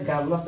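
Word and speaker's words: garrulous: आर के पहले vowel है, इसीलिए आर को स्लाइटली साइलेंट करके वी विल प्रोनाउंस इट।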